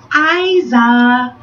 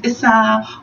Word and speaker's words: Iza: And today's beauty episode will be the styling of Iza, or it could be pronounced Iza, or it could be even pronounced Iza, or it could be pronounced Issa, or it could be pronounced, depends on what nation you come from. The Iza wig, I choose to pronounce it the Iza wig.